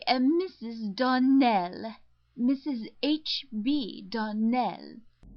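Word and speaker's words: Donnell: Clarissa Myra told me that you pronounced our name Darnell. Now, Miss Shirley, the correct pronunciation of our name is Darnell. Accent on the last syllable.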